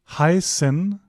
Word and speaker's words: heißen: Whenever you see that, just treat it like an S. A voiceless S. So, not zzz, right? Not the B sound, it's more like an sss, more like a the sound of a snake, more of a hissing sound. So, it's heißen.